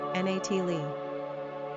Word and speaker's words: Natalee: Pronunciation, Natalie.